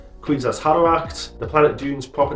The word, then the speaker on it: Kwisatz Haderach: For future reference, it's Bene Gesserit, Kwisatz Haderach. The planet Dune's proper name is pronounced Arrakis.